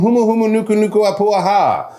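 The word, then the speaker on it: humuhumunukunukuāpuaʻa: Humu humu nuku nuku apuaha. Actually, it's not that hard to pronounce, is it?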